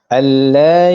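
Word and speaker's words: أَلَّا: Alla. Nampak tak? Saya tak baca dia alla. Saya tak dengungkan huruf nun tersebut.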